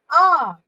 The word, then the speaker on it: hour: For example, an owl, an apple, an R. Because H is silent here, so the next word becomes O, which is a vowel.